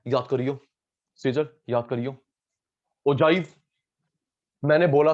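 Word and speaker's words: ogive: Teacher student इससे बोलते ओगिव, ओजाइव है ये। ओके सूर्याश, बिंदर साहब, ईश्वर, सुमित, किशन, सेजल, अदिति, विधि। ओगिव नहीं, ओगिव गलत प्रोनाउंसिएशन है, ओजाइव।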